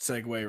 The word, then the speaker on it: segue: look at a good way to segue i pronounced segway right today to our topic on backfields unsettled